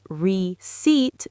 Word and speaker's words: receipt: total list of costs Receipt (Remember: Re-ceet, the 'P' is silent!)